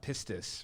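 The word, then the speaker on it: πίστις: And pistis, right? Am I pronouncing that correctly?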